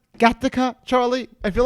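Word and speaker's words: Gothika: made the movie more than just entertainment like gareka the previous film written uh it's pronounced gothica charlie i feel like derek always says something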